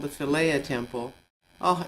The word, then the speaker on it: Philae: It's called the Philaea Temple. Oh, it's amazing. Fiela is how they pronounce it here anyway.